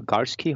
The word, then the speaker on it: Garski: and the guest we bring in is Michael Garski.